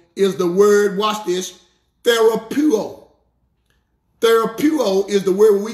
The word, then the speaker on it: therapeuo: The Greek word for healed is the word, watch this, therapeuo. Therapeuo is the word we get our English word therapy from. Therapeuo is spelled T-H-E-R-A-P-E-U-O.